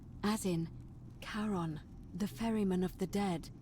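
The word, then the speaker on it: Charon: just as you described red it only your pronunciation is a little off the name you heard wasn't Karen it was c h a n as in karon the Fairman of the dead I'm dead Kon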